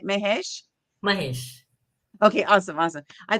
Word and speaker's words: Mahesh: I'm super excited to interview one of our authors today, Mahesh. Let's see. I'm not sure if I said your name right, your last name right. Mahesh.